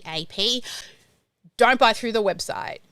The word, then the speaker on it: Keap: I love the celebrating clapping thing, but is this the same Keep that is in the Google? Okay, it's spelled Keap. Keap.